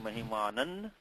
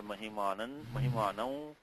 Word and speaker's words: mahimanam: So it could have been mahimanan or mahimanam, but pronouncing wise I think nakara is more preferred form.